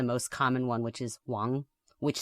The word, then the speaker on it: Wang: most common last names, and it's Wang. That's the Chinese pronunciation, which is anglicized in lots of different spellings.